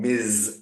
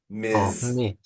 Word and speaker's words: Ms.: They like to be called Ms. And so it's almost like it's the letter Z. Ms. Ms.